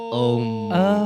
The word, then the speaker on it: aum: Jadi sebenarnya aum tapi bacanya om gitu.